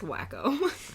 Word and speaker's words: Waco: It's pronounced wacko.